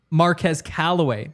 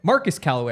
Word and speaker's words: Marquez Callaway: period of the day Marquez Callaway Marcus Callaway I think is actually how you say it um that's what Sean said yeah Marcus yeah yeah it's Marcus Callaway uh so Brandon Johnson